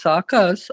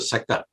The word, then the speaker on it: Saka: It's not a saka, it is a saka. Saka, okay. You put too much emphasis on the first syllable.